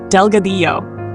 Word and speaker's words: Delgadillo: Delgadillo, Delgadillo. Double L in Spanish sounds like a Y.